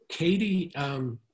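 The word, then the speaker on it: Cady: Katie just sounds like a Texas name to me. That's just well, the way you spell it, C-A-D-Y. Yeah. And there is a Katie, Texas, I believe, but it's spelled differently.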